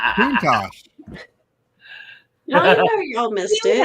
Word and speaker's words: Countach: See, Countach is the correct way, although Chris's way is funnier. I said Countach.